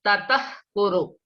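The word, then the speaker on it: ततः कुरु: Tatah kuru. That means you have to pronounce it as aspirated one.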